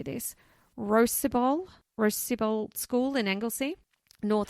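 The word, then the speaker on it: Rhosybol: from, I don't know how you say this, Rosybol School in Anglesey, North How do you Wales. spell it?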